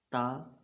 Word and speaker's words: ت: کہ اردو تلفظ میں۔ جیسے پڑھتے ہیں بے، تے، فے، ہے، خوئے، توئے، زوئے، اس طرح ہم نے نہیں پڑھنا، بلکہ ہم نے پڑھنا ہے با، تا، ثا، حا، خو، طا، ظو پڑھیں۔ حروف